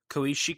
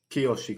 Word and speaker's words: Kiyoshi: clearly inspired by that um pulse uh the koishi Kurosawa did I say his name right kiyoshi kurosaw kiyoshi Kurosawa um in his movie Pulse